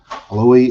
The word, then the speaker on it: Aloi: Please tell me the correct pronunciation of your last name. Oh, you got it just fine. Oh, I Aloi.